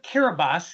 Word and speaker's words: Kiribati: So the island of Kiribati is how they pronounce it there Ah, in Kiribati.